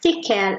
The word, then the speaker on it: Tcl: machines which had no assembler tcl pcl are pronounced as decal or as an initialism is a high-level general